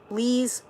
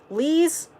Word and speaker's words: Lies: Lies rhymes with please. Lee's, okay. Lee's Hossein.